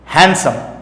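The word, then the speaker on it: handsome: हैंडसम, पहली बात तो इसको हैंडसम नहीं पढ़ते, डी को साइलेंट में रहेंगे तो हैंडसम होगा, डी नहीं बोला जाता है।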